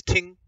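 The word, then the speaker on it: 聽: listen this word means to listen and its pronunciation is ting and this word kind of um embodies the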